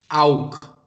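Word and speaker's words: auch: If there is A, O, or U immediately before CH, then this CH, it is pronounced as kh.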